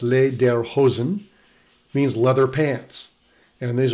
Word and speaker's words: lederhosen: are lederhosen and dirndl lederhosen pronounced les der hozen means leather pants and